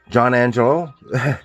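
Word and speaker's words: Jonanjello: the same person though this is uh John Angelo that's but it's spelled John and jello j-o-n-a-n-j-e-l-l-o and he on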